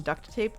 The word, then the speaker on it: duct tape: I also want to say I appreciate you pronouncing the T in duct tape.